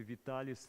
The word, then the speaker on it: Vitali: So I think it's very important that you stick to the right pronunciation of the name because otherwise all the Italians in the audience cringe. Sorry. Yes. Supposed to be Vitalis theorem for God's sake.